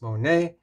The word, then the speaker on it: SMONET: Monet Smart Lock or if you want to pronounce it it's Monet so let's go ahead